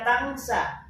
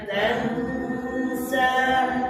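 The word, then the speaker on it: تنسى: Nah, jadi di sini jangan dibaca tangsa. Sanuqri'uka fala tansa. Yo.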